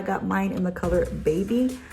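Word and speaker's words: Baeby: I got mine in the color Baby. So it's baby, but it's spelled different, like B-A-E-B-Y.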